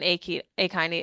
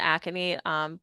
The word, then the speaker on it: akinete: So they are kind of at least related to the limitation piece, but ultimately when an akinete is formed or an akinete, both ways of pronouncing are acceptable.